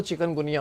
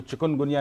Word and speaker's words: चिकनगुनिया: है, लेकिन वो इसको चिकनगुनिया नहीं पढ़ते, चिकनगुनिया पढ़ते हैं। जो स्पेलिंग है वो भी चिकन वाला ये पढ़ते हैं, हालांकि ये इसका जो वो चिकन है, KU आता है, ठीक है।